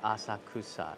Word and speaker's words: Asakusa: you do i have always said it as asakusa yeah daryl you're not wrong if people correct your pronunciation those are the the jer the um